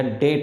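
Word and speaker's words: debt: डेबिट oxygen या डेट oxygen, B silent है, इसे डेट ऑक्सीजन पढ़ा जाता है।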